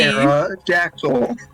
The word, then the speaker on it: pterodactyl: There's a P, you just don't say it because some scientist was like, wouldn't it be funny? I know how to spell it, Alex. There is a P. We just didn't pronounce it.